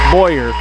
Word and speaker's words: Boyer: Bower with it Boyer I get Boyer and Bower confused with her name I should know it's Boyer it's fourteen eight now